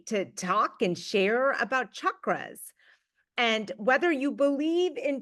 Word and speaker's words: chakras: are chakras uh often you will hear folks pronounce it chakras but just so you know it's chakras right is kind of the way we pronounce